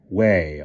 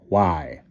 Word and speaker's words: Wye: Doward is in the valley of Goy, which the Saxons pronounce as Way or Wye.